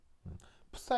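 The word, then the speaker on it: psi: 푸사 이렇게 읽는데 S를 거의 약하게 발음하기 때문에 그냥 파이 뭐 이런 식으로 발음할 수도 있습니다.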